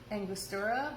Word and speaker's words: Angostura: So another thing we're going to use is, I call them Angie bitters because I feel like my Midwestern accent comes out when I try to pronounce it, but it's Angostura bitters, which shockingly enough, when